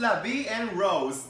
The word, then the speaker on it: La Vie en Rose: el mundo como una superestrella jackson número 2 la vie en rose así se pronuncia pero la canción el sol